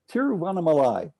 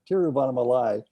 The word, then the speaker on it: Tiruvannamalai: weave back and forth between this wonderful story tiruvannamalai took me a long time to learn how to pronounce that teriovanamalai is where you spend a significant portion of